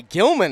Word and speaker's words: Gilman: I'm Gilman is how it's said, and I will be